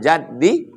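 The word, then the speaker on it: جد: Allahumma la mani'a lima a'taita wa la mu'tiya lima mana'ta wa la yanfa'u dzal jaddi minkal jadd. Man jadda bi fathil jim. Cara membacanya jimnya baris fathah.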